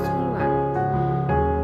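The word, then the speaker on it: 설날: Nah Seoul ini dibacanya Solan. Apabila L bertemu dengan apabila real bertemu dengan Nien, maka dibacanya Solan gitu ya teman-teman.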